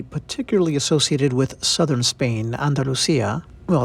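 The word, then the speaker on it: Andalucía: Well, that's how someone speaking Latin American Spanish like me would pronounce it, Andalucia, in Spain. I always feel really awkward when I try to do the actual Spanish accent.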